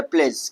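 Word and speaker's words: pledge: हम प्लेड्स नहीं पढ़ेंगे। हम क्या पढ़ेंगे? प्लेज।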